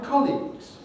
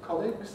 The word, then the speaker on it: colleagues: acorn it's drunk or my colleagues we don't weaken it to colleagues and we don't change the stress to colleagues we call it comics